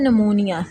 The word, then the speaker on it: pneumonia: उसके बाद आता है नमूनिया। इसमें पी जो है वो साइलेंट होता है। नमूनिया इस वर्ड को पढ़ेंगे। नमूनिया इज़ a inflammation in the lungs.